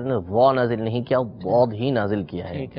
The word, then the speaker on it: ضاد: اس طریقے سے کرنا۔ اور جو صحیح لفظ ہے وہ ہے ضاد، یعنی اس کا تلفظ ذرا مشکل ہے، عجمی افراد یہ آرام سے اس کو نہیں نکال سکتے، لیکن بہرحال یہ ضا نہیں ہے، ضاد ہی ہے، اس کو ضاد ہی یہ پڑھا جائے گا، تو یہ اگر